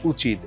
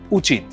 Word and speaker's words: উচিত: উচ্চারণ যেমন ইলিশ তিরি উচিত দেখুন এখানে কিন্তু প্রত্যেকটাই লেখা হয়েছে রস ইকার দিয়ে কিন্তু উচ্চারণটা কিন্তু দীর্ঘ হচ্ছে ইলিশ 30 দীর্ঘ উচিত ইলিশ 30 উচিত এরকম